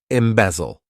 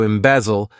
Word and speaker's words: embezzle: Embezzle. To embezzle, this verb has three syllables and the stress is on that second syllable.